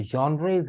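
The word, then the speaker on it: genre: पढ़ी चीज, अच्छा जॉनरा, सही प्रोनाउंसिएशन इसका है जॉनरा। जी से लिखा जाता है मगर वाई के करीब करीब आवाज निकलती है, यानी यूं समझ लीजिए जेड एच या वाई की साउंड निकलती है और इसको ऐसे पढ़ते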